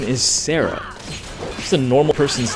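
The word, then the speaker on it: Serah: be nice yeah yeah her name is Sarah like it's spelled badly but it is just Sarah let's make this quick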